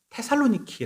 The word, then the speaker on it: 테살로니키: 않을겁니다 어 사실은 이 지금 제 현대의 발음으로는 테살로니키 라고 말합니다 그거 이제 우리나라 성경의 번역하면 색이 대사로 니까 라고 말했는데 지금 여러분 지도에서 사람 곳이라면 테살로니키 라고 찾으시면 됩니다 어 지금 다 100만이